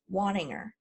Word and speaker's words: Waninger: this tenth of videos my last name is pronounced wanting her and I hope people remember that by saying you know as in you'll be wanting her to come speak at your event or you'll be wanting